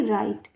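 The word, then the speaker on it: right: आर आई जी एस टी राइट। तो ये बात भी यहां साबित हो रही है। आर आई राई और जी एच का को आपको पढ़ना ही नहीं है। ट पढ़ना है सीधा।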